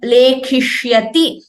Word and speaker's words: लेखिष्यति: This shya should be heard clearly, like shanmukha. There is a tendency sometimes to pronounce it like sa. That would be an erroneous pronunciation.